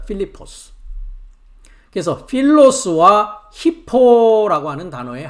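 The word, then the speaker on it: Φίλιππος: 어 헬라어 발음은 오른쪽을 보시면 한글은 빌립 영어는 필립 이렇게 하는데 헬라어 발음은 필리포스라고 합니다. 필리포스.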